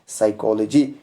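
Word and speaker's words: psychology: है यहां पर देखो पी एस पहले है पी यहां पर साइलेंट रहेगा और इससे पढ़ेंगे साइकोलॉजी क्योंकि स पहले कांबिनेशन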